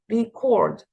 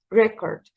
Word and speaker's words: record: record yourself record yourself record type but if I'm talking about the noun is record record record like this okay so the stress here is on the first syllable record record so take